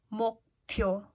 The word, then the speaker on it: 목표: 목표. Hopefully you heard the aspirated P sound there. 목표.